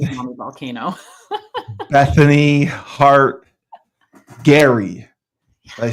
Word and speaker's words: Gerry: not to be a mommy volcano Bethany Hart Gary I say it right row yep you got